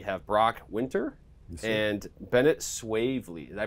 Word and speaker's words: Swavely: men's team we have Brock winter and Bennett swavely did I pronounce that right that's right I did we're